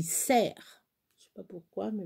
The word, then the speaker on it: cerf: cerf ça s'écrit cerf on ne prononce pas cerf on dit serre je sais pas pourquoi